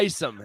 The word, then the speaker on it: Taysom: It's not Taysom. I said it right. I said it right. It is Taysom.